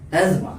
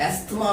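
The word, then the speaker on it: asthma: Number 3 एस्मा। एस्मा क्या कहते हैं? इसको बहुत लोग एस्थमा प्रोनाउंस करते हैं। एस्थमा नहीं है, ये एस्मा है।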